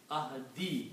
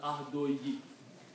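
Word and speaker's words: عهدي: The sound of 2 dhammas goes to 1 dhamma when we combine these, but for pronunciation you cannot combine, so it has to come ahadi, not ahdoyi.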